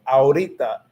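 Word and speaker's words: ahorita: to pronounce it because it's literally just saying ah and then aura because you know is is it silent so if you know that the h is silent you just cut that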